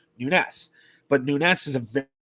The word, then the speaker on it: Nunes: And no, I'm not mispronouncing Nunez. I'm pronouncing it the Portuguese way, which is the way that my family pronounced it, Nunes.